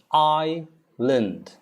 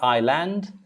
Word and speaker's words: island: isla indian we wonder why is s not pronounced who created that well that's how it is i s is i lind i lind it's not island island island okay i